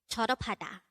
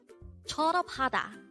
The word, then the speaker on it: 졸업하다: 졸업하다. 졸업하다. This is pronounced as a four-syllable word. The first syllable is 졸, second syllable is up, third syllable is ha, and the fourth syllable is da.